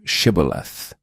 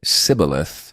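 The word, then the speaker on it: Shibboleth: If he said, Nay, then said they unto him, Say now Shibth, and he said, Cibilith, for he could not frame to pronounce it right.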